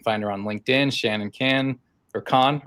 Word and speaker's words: Kahn: You can find her on LinkedIn, Shannon Ken or Khan, right? How do you say your last name? Khan. Khan.